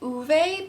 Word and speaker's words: Ove: I was pronouncing it A Man Called Ove. I know the like movie with, is it Tom Hanks, pronounces, or they just changed the name to A Man Called Otto, but I'm gonna say Uwe because that's how it was pronounced in the audiobook.